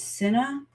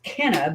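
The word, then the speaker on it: Cenna: because her name is Kenna, but it's with a C instead of a K. And so a lot of people try to say her name is Senna.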